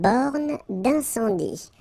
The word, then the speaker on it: borne d'incendie: Okay, final E here not pronounced, final E here not pronounced. Une borne d'incendie.